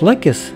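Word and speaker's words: Лаккос: Пляж Лакис, всё-таки ударение правильнее на первом слуге, для нас оказался настоящим открытием.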